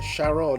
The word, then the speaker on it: Sharon: So unfortunately, Sharon, even though it should be pronounced closer to Karen, he had to go.